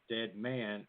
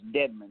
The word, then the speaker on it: Dedman: Am I saying it too fast, or should I draw it out to Dead Man or Dedman? Yes, Dedman. You just kind of say it real quick, Dedman.